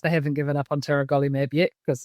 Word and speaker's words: tiragolumab: Tiragolumab. Thank you. And Stress on the third.